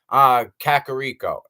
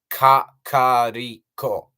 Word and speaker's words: Kakariko: Oh, Kakariko. No, no, not cat. Kakariko. Think about it.